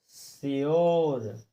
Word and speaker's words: sure: जैसे SURE, तो क्या लिखा जाए, SURE, तो हम इसको क्या पढ़ेंगे, श्योर। क्यों पढ़ेंगे, क्योंकि हमें यू के बाद RE दिया हुआ है। यू के बाद क्या दिया, यू के बाद क्या दिया, RE, तो हम इसको श्योर पढ़ेंगे, क्योंकि हमने पढ़ा है